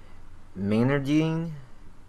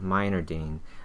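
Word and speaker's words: Meinerding: Miner Dean it should I believe it should be called Miner Dean um excuse me if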